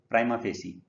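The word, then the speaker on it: prima facie: आज का चौथा वर्ड है प्राइमा, इसको प्रोनाउंस करते हैं फेसी, प्राइमा फेसी।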